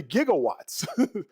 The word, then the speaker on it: gigawatts: He said gigab jig gigawatts. It's really gigawatts.